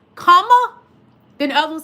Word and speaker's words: Kamala: Like her nieces said, it's Kamala. Then the other one said, La. Kamala.